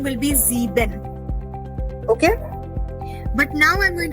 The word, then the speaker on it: sieben: S-I-E-B-E-N.